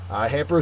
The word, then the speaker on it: hamper: Hamper is a verb. The first syllable is accented.